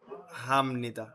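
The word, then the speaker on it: 합니다: হয়ে যাবে খাম বানান বানান কিন্তু খাপনিদা উচ্চারণ হবে খামনিদা এরপরে হাদা হয়ে যাবে হামনিদা হামনিদা মান্নাদা হয়ে যাবে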